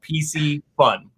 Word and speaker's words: Piscifun: have a tough time i tell them it's like reese's pieces pc fun right and so the